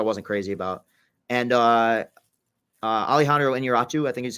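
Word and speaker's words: Iñárritu: And Alejandro Inarritu, I think is how you pronounce his name.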